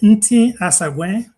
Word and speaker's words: Nti Asagwe: Nti Asagwe. All right, Nasakwe. N is silent, then everything else is pronounced as spelled.